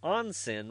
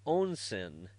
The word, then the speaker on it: onsen: Even my wife, trying not to pay attention, asked if an onsen was an onsen.